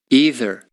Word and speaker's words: either: But also, as you can see here, when we have the American pronunciation, we have two of them, right? Mm-hmm. So maybe you can say either or either.